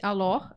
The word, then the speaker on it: Alors: Alor. arroba Alors. Alors. No Instagram tá Alors. Isso, tem um S tem no um final, S. gente. Tem o S no final, mas não pronuncia.